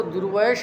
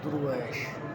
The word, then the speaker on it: درویش: فقیر، خدا رسیدہ بزرگ، خدا رسیدہ بزرگ۔ بعض لوگ اس کو درویش بھی پڑھتے ہیں، درویش ہے نا، لیکن اکثر لغات میں اس کا تلفظ دیکھا درویش ہی ہے، درویش۔ بعض لوگ یہ کہتے